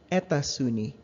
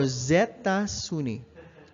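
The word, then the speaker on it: États-Unis: this is i'm sorry that's a wrong pronunciation this is what happens whenever the next sound after the oh the plural o with an x is is consonant you pronounce the x as an s sound and you connect it with a with a i'm sorry this is a consonant a vowel sound or zetta sunni jabit or zetta zuni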